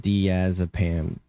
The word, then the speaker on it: diazepam: It's pronounced diazepam.